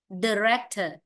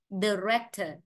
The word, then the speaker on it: director: Cái từ số 31 có hai cách phát âm của cái âm đầu tiên. Hoặc cái âm ý này ta có thể chữ cái ý này có thể phát âm thành ơ hoặc là ai. Ta có phát nếu phát âm thành ơ sẽ là director, director. Còn tiếng Anh Mỹ phát âm ai là director, director.